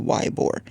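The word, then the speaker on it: Ybor: a street called eore some people call it Yore it's spelled y b o r and um I found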